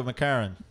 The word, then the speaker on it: McCarran: Jamie McCarran. Is that how you pronounce that, Gary? You're the English professor here. Yeah, let's go, McCarran.